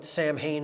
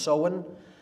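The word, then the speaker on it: Samhain: fall is seen pronounced soen it looks like Sam Hayne in English but it's pronounced soen uh in gaic and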